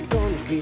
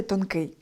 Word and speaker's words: тонкий: Друзі, правильно вимовляти «тонкИй». З певною художньою метою Тарас Тополя поставив наголос у слові неправильно, але ви вже підковані — кажемо тільки «тонкИй».